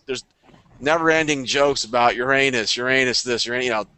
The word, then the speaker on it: Uranus: know it's an Americanism if you look in the encyclopedia if you're looking at any pronunciation guide its Uranus that's the it's the name of a Greek and Roman God and that's the correct way so many people do